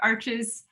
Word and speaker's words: Arches: get in the sheet, like Arches has, I guess you're supposed to pronounce it Arch. I always say it wrong.